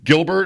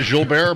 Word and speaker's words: Gilbert: Is that Am I saying it right? Gilbert. It's not Jill Bear.